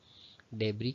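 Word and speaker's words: debris: उसके बाद देबरी है इसको इसमें एस जो वर्ड है वह साइलेंट होता है डेब कहलाता है यह और रन फलन बिल्डिंग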